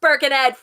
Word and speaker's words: Birkenhead: ed right now and you're like ah it's pronounced birkenhead you americans um then you